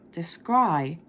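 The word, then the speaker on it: descry: terms as always we're here to help you descri handy ways to tell confusing words apart in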